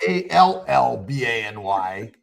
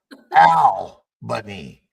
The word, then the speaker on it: Albany: Actually, it's not Allbany. It's Albany. Makes sense to me.